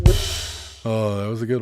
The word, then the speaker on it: Worcester: But it's pronounced Worcester.